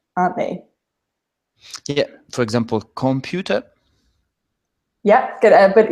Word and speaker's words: computer: So how would you pronounce that? Computer. Yeah. It's just each letter pronounced. Yeah, and you get the nice R at the end.